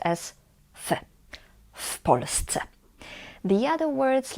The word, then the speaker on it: w Polsce: But when we say in Poland, we say w Polsce, w Polsce. This W before the word Polsce means in, and we pronounce it as one word, and here in this context is pronounced as w Polsce.